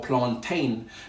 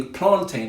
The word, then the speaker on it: plantain: plantain or plantain now i say plantain simply because it's spelt t-a-i-n at the end just like mountain fountain you don't say i'm going to climb a mountain or a fountain so i don't say plantain i'd say plantain just like say a